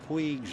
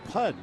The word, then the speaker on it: Puig: This fella claims that over there you pronounce it Pudge. However, we've done considerable checking, and even in Catalan, which is a province in northern Spain, north of Barcelona, it's still Puig.